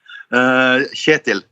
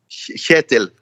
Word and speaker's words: Kjetil: So the K is silent. It's the first KJ is like a sound that you don't have, I think, but it's the same sound as Germans would use when they say ich.